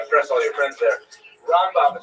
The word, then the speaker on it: Rambam: Rambam is pronounced with the emphasis on the first syllable ra and raan is pronounced within the second syllable raba and ramban.